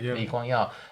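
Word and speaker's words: Lee Kuan Yew: How do you pronounce his name? Liua.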